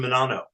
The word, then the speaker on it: Menanno: I'm sorry, Menanno.